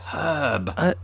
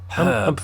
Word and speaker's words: herb: confusing um but it's herb herb although we don't pronounce the r in in herb as Brits either unless you're from the West country you might men and